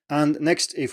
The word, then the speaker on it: ai: And so this is spelled AI in pinyin and is pronounced I. And this is nothing strange here, it's just a combination of these two, so it doesn't behave in any unexpected way or anything.